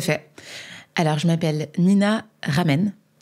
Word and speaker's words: Ramen: Alors, je m'appelle Nina Ramen. Comme les ramen, hein. Ça s'écrit pareil.